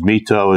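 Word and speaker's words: My Tho: Mito is capital M-Y, capital T-H-O.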